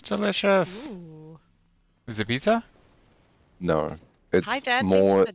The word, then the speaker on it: Moa: which is like a I am mower yeah yeah no you said it wrong it's the more gosh it would be with the with the Maori accent it's like that big